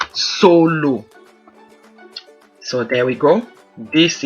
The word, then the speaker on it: solo: So we have the same word S-O-L-O, different pronunciation, different meanings, but same spelling.